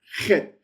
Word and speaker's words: het: That's the che, which is the ha, ha, ha. This is the one where you ought to be getting spots on your screen and people want to stand back from you when you pronounce it because the spit's coming out. Ha, het, het. That's the het sound.